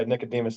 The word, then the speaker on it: Nicodemus: Nicodemus though, you pronounced it properly. That that's not something that a lot of people get correct, but yeah, Nicodemus is is right.